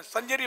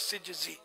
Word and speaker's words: سجزی: سنجری مشہور ہے لیکن اس اصل تلفظ سجزی.